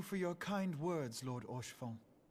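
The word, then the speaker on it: Haurchefant: And thank you for your kind words, Lord Orchiffon. Orchiffon? That makes sense that you wouldn't pronounce the H 'Tis so harshly.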